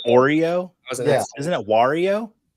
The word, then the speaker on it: Wario: Tennis are you saying Wario better than me like Oreo isn't it Wario how do you say it I say Wario like rhymes with Mario Herms how do you